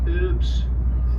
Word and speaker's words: herbs: But we pronounce the H.